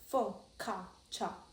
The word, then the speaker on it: focaccia: It's hard to beat focaccia, pronounced focaccia.